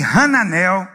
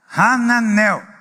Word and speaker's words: Hananel: nome do do cara hananel hananel tô falando a pronúncia Hebraica né mas em português não tem esse ra é só a mas de qualquer maneira